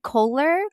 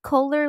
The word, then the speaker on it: Kohler: to be even harder it's Kohler Kohler like roller yeah and I don't